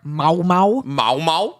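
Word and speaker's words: Maomao: Apothecary girl Mau everyone calls her Mau it's pronounced ma Mau okay and I know that because I'm sorry one more time mau mau mau mau yeah what about it it's just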